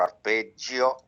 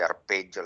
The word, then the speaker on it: arpeggio: so you use or arpeggio. I like to say arpeggio like in Italian, not arpeggio like British and American read. Is a soft G.